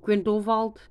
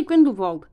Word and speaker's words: Grindelwald: Crimes of Grindelwald. And yeah, I'm probably pronouncing his name wrong, but we're gonna say Grindelwald.